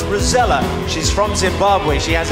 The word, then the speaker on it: Rozalla: It's written Rozalla. It's pronounced Rozella.